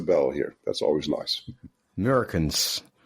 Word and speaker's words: Meurkens: Meurkens, yeah, That's Dutch right. native, yeah, as a Dutch native speaker, yeah. I know Yes. it's actually a hard sound to pronounce, the and the I know. Yeah, it's a very Dutch sound.